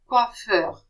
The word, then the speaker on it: coiffeur: Double F is pronounced F as well. Coiffeur.